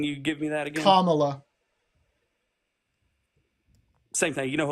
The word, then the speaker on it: Kamala: the basis respect of saying her name correctly comma easy it's easy say it right thank you